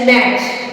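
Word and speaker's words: match: पे तो वहां पे हम टी को साइलेंट रखेंगे जैसे एम ए टी सी एच मैच वच डब्लू ए टी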